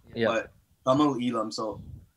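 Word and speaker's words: Tamil Eelam: But Tamil Elam, so it's spelt Tamil, but it's pronounced Tamil.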